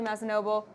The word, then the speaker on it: Mazzanoble: And of course, you've also seen Mike Mearls today, but we're welcoming for the first time to the interviews Mazzanoble. Thank you. Is that pronounced correctly?